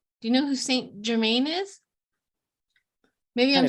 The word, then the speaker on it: Saint Germain: Do you know who Saint Germain is?